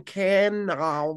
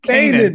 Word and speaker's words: Kanan: They're like raising Canon? can Canon? can Is there an yeah, accent I'm Canaan. missing? It's Kanan.